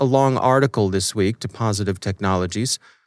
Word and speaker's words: Positive Technologies: it look russian but it's not it's simply pronounced positive technologies transliterated into cyrillic and then transliterated back into the roman alphabet ibm warns that the